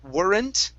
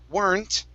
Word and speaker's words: weren't: um some teachers teach teach this word as warrant okay uh i don't like that because this